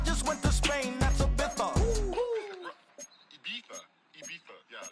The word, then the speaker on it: Ibiza: I just went to Spain, that's Ibiza. Ibiza. Yeah, it's pronounced Ibiza, actually. Yeah.